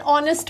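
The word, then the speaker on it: honest: अवर एंड ऑनेस्ट मैन अब यह consonant ह कंसोनेंट फिर भी हम इसके आगे एन क्यों लगा रहे हैं क्योंकि ह जो है ये तो साइलेंट हो गया और ओ से स्टार्ट हुआ ओ हमारा एक वॉवेल हुआ और ये साउंड वावेल के साउंड प्रोड्यूस कर रहा है इसी के आगे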